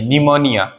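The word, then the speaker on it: pneumonia: इतने सारे एग्जांपल लिखे निमोनिया निमोनिया में इस पी का कोई प्रोनंसिएशन नहीं किया हमने लेकिन इसकी जब स्पेलिंग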